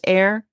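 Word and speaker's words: Eyre: Jane air fryer and her maiden name was e a y r e which I'm assuming is pronounced air so her parents name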